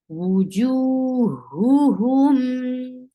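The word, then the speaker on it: وجوههم: Wujuhuhum. So juhu are coming together. So make sure you pronounce them very well and separately. Wujuhuhum.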